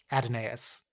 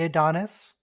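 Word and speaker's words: Adonais: who Mourns for Adonis adenaeus oh is that how you say it it looks like it should be Adonis but there is a sneaky a in there oh thank you I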